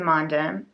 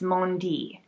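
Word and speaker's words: Mondim: would think, to the Monde. Oh, I've been saying it wrong all these years. It's Mondi. The Mondi, the Retrosaria Mondi.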